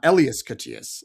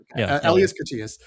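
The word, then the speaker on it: Elias Koteas: But uh I think it's uh IAS Katias, not Elias. Yeah. Elas Katias, of course.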